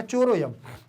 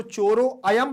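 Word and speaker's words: चोरोऽयम्: ध्यान रखना है क्योंकि जब आप इसको चोरो अयम पढ़ोगे तो आपका गलत माना जाएगा लेकिन आप इसको पढ़ेंगे चोरो यम चोरो यम तो आ का उच्चारण केवल और केवल हमें महसूस होना चाहिए सामने वाले को स्पष्ट रूप से नहीं आना चाहिए इसलिए चोरो यम पढ़ेंगे ठीक ध्यान रखिएगा तो यहां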